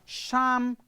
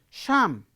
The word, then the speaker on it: Psalm: not an english word the word start with p but p is not pronounced p is not pronounced